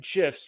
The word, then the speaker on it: GIF: to make your emails pop by adding animated gifs in MailChimp I'm from Gmail and in today's video I'm going to cover exactly how to insert animated gifs directly from Jiffy using MailChimp tools let's get